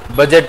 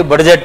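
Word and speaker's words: budget: ಆದರೆ ಅದನ್ನ ಉಚ್ಚಾರ ಮಾಡಬೇಕಾದಾಗ ಯಾವುದು ಸೈಲೆಂಟ್ ಆಗುತ್ತೆ ಡಿ ಸೈಲೆಂಟ್ ಆಗುತ್ತೆ ನೀವು ಅದನ್ನ ಕನ್ನಡದಲ್ಲಿ ಉಚ್ಚಾರ ಮಾಡಬೇಕಾದಾಗ ಬಜೆಟ್ ಅಂತ ಓದಬೇಕು ಬಹಳ ಮಂದಿ ಅದನ್ನ ತಪ್ಪಾಗಿ ಬಡ್ಜೆಟ್ ಅಂತಾರೆ ಅವರು ಬಡ್ಜೆಟ್ ಅಂದ್ರೆ ಅವರು ಪಂಡಿತರು doctorate P ಎಚ್ D holder ಅಂತ ತಿಳ್ಕೊಂಡು ಬಿಡಬೇಕು ಬಡ್ಜೆಟ್ ಅನ್ನಬಾರದು ಅದನ್ನ ಏನ್ ಅನ್ನಬೇಕು ಬಜೆಟ್ ಅನ್ನಬೇಕು ಡಿ ಸೈಲೆಂಟ್ ಡಿ ಉಚ್ಚಾರ ಮಾಡಬೇಡಿ ಇದನ್ನ ಆರಿಸಿಬಿಟ್ಟು ಬಜೆಟ್ ಅಂತ ಹೇಳಬೇಕು ಇಂಗ್ಲಿಷ್ ಇರೋದೇ ಹಂಗೆ ಅಲ್ಲಿ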